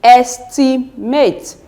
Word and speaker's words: estimate: And if you are to look at the antepenultimate syllable, as I've said earlier, I said is a third syllable from the end.